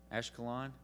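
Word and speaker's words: Ashkelon: Ash ashiola is that how you say it ashalon okay thank you that sounds really cool ashalon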